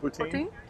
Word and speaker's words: poutine: Is that how it's pronounced? Poutine? Poutine.